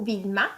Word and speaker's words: Wilma: `` u '' et Wilma comme vi à la place ok donc ce sont